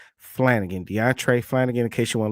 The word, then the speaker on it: Deontray: that you see on your screen is deont deontre Flanigan that's spelled D e o n t r a y Flanigan deantre Flanigan in case you want to look it